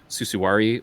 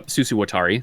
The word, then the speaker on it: Susuwatari: I know that, and I always get this wrong, the MT3 double shot ABS caps, Susuwari, I think is how you say it. Oh, Susuwatari, thank you.